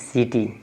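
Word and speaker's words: city: बाद आई है तो आप इसको सी को क न पढ़ के स पढ़ेंगे क्या पढ़ेंगे स तोय लिखा है सी और टी आई है टी वाई है तो टी वाई है तो य भी लास्ट में बताएंगे कि वाई रहेगा तो क्या बड़ी ई की मात्रा होगा छोटी ई की मात्रा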